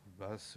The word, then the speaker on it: Baes: L'auteur des décors d'Horta s'appelait Baes, ou Basse, selon la façon dont on veut le prononcer, Henri Basse, qui était